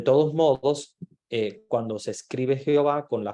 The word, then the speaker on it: Jehová: que es el original Pero ellos en español le pronuncian como Jehová porque no pronuncian la H y la i del inicio se convierte como en una J porque el sonido en español a sonaba más como una jota que como una y verdad de todos modos